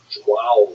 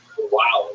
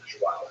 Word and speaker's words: João: I used to think it was wow, like when the baby was born, the body would say, wow, it's a boy, but it was actually João, and it was sort of instruction.